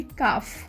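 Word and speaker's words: calf: इसमें भी L जो है साइलेंट है, तो इसे प्रोनाउंस करेंगे काफ।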